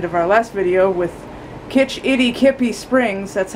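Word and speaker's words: Kitch-iti-kipi: And I realized at the end of our last video with Kitch Itty Kippy Springs, that's how it's actually pronounced, and the mystery spot, I forgot all of this goodbye stuff at the end, but that's all right.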